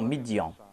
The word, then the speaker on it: Midian: Et lorsqu'il tourna son visage vers Madian, le Saint-Coran nous présente le terme Madian, mais la Bible nous présente la prononciation Midian.